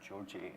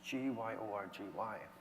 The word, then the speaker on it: Gyorgy: I said, "Gyorgy," and he said, How do you spell it? How do you write it? I said, it's Gyorgy. It's an orgy with a GY.